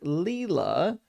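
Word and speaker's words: Lila: Uh pronounced like Leela, the Sanskrit word meaning divine play, a dancer of the universe.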